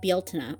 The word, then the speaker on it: Bealtaine: in Irish it's spelled Bealtaine, Bealtaine, and it's pronounced like Bealtaine, or similar to that.